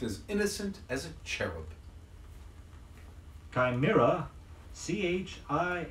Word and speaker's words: chimera: cherub he looked as innocent as a cherub chimera ch i M II are a is a